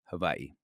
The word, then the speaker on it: Hawaii: to hold on to her family's land in Hawaii, or to follow the real pronunciation more closely, Hawaii.